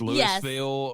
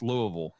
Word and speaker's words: Louisville: Everybody says Louisville or Louisville. No, it's Louisville. Say it the way that we say it.